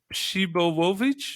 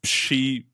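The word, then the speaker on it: Przybyłowicz: and his name, it's a Polish name, and it kind of goes Shibołowicz.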